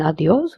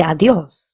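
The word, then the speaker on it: adiós: We will stress on this word because there is an accent on the O. Where there is an accent, we have to stress. So adios. Instead of saying adios, we say adios because there is an accent.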